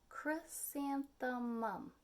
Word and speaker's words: chrysanthemum: mouse is named chrysanthemum that's a long name isn't it chrysanthemum four syllables would you like to